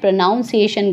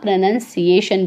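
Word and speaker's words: pronunciation: में गांव में रखेगा इसका जो चारण व आपको बिल्कुल करेक्ट करना है प्रणाम सेशन गलत होगा प्रनंसीएशन बोलना है अगला जो हमारा वर्ड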